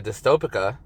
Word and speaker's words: Dystopica: and all that you know um uh with dystopic pronounced it right this time yes you did um